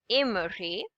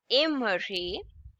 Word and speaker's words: aimerais: Again, AIS is pronounced as A, ending S would be silent. We would say tu aimerais, tu aimerais.